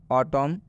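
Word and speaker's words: autumn: में बता दें कि यदि एम के बाद एन आता है तो यह एन साइलेंट हो जाता है, मतलब इस एन का उच्चारण नहीं करना है, नहीं पढ़ना है, हम एम तक ही सीमित रहेंगे। जैसे में कॉलम, हिम, ऑटम इत्यादि।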